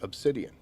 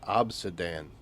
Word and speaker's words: obsidian: And I have always known that to be obsidian. And he kept saying obsidan.